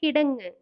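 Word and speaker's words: കിടങ്ങ്: பேரு கிடங்கு ட்ரன்ச் மலையாளத்துல கிடங்கு இங்கு எல்லாம் மலையாளத்துல சொல்லும்போது இங் அப்படின்னு மென்மையா உச்சரிக்கணும்.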